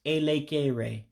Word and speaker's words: elekere: It's elekere for hour. So I'll do it slowly. Remember, the E's, when you pronounce them, are just like A's in English.